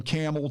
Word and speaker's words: Campbell: kathy checking in from camel today you notice i said it properly even though it's spelled c-a-m-p-b-e-l-l campbell campbell he doesn't even